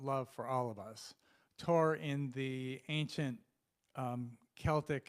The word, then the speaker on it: Thor: son um it's pron it's spelled Thor but it's pronounced Tor which I know because